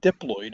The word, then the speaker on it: diploid: If the DNA is diploloyid, not dloid but diploid is how we pronounce it.